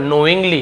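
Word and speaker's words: knowing: हैं फालतू में जानबूझकर नोइंग के साइलेंट रहेगा केवल नोइंग नोइंग यानी जानबूझकर जानते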